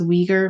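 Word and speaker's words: Uyghur: support of i think conor told me it's pronounced weaker muslims i don't know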